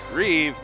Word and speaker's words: Reeve: there's High dagger oh how do you pronounce that weird name Reeve Christopher Reeve oh might as well be expelled the same way R double e v e Superman yes I